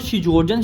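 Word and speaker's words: Sjögren: अच्छा देखो, second number पे हमारे पास जो आता है ना, हम उसको शिजोर्जन सिंड्रोम पर हो या आप जो है ना शुगरान सिंड्रोम पर हो, जो आप इसको मर्जी प्रोनाउंस कर लो।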